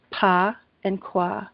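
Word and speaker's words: Bagua: It's B-A-Q-U-A, and it's pronounced Pa and Kwa, which means black hat.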